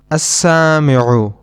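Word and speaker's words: السامعُ: Now let's look at some examples in which we do not pronounce the lam. As-sami'u, which means the listener. In this noun, we do not pronounce the lam. We directly connect the hamza with the sin, as-sami'u.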